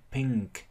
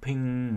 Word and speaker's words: pink: Y p p in pink ng in ng in ng p in pink thì được, nhưng mà phát âm thêm âm k cuối cùng, pink. Pink. Pink. Các bạn nghe thấy âm k không?